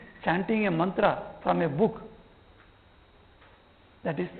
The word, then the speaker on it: mantra: So in Bengali, in colloquial language, Bengali, mantra is a very pure Sanskrit pronunciation. It is not pronounced like that. They will say in colloquial, talking language, they will say Montor.